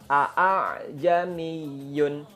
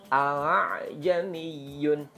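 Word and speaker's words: ءَأَعْجَمِيٌّ: pertama itu dibaca fathah jadi bacanya gini Aa Jeni Yun Aa Jeni Yun Nah itu keliru padahal Hamzah yang kedua itu dibaca ringan tashil diringankan alay Jenny Yun alay Yeni Yun gitu Jadi yang bacanya seperti ini Aa Jeni Yun itu keliru ya kemudian ada kesalahan yang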